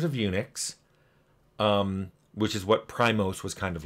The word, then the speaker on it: PRIMOS: Looks like Primos, the band, or Primus, or whatever, but it's pronounced Primos, and it was on their Prime computers.